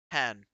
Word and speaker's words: Hahn: just for my sake, it's Hahn, right? Or is it Han? It's Han. It's Han. Yep, the silent E gets everyone.